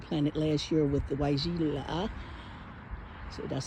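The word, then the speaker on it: Weigela: Those all got planted last year with the Waijila. So that's how you pronounce it.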